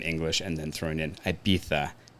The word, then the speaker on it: Ibiza: I would definitely say Ibiza right so Ibiza is correct yeah it's the Spanish pronunciation of it I would have a